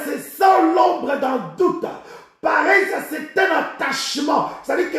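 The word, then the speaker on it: παρρησία: Bien-aimé, le mot assurance ici, c'est la traduction du mot grec parésia. Parésia qui est traduit ici par assurance. Parésia. Parésia s'écrit P-A-R-R-H-E-S-I-A.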